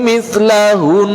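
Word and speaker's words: مثلهن: Maka ketika kita menghentikan di situ di kalimat mislahun, maka wajib mendatangkan gunnah yang paling sempurna. Maka cara pengucapannya Allahul ladzi khalaqa sab'a samawati wa minal ardi mithlahun. Baik, tanpa memfathahkannya karena kita mewakafkannya.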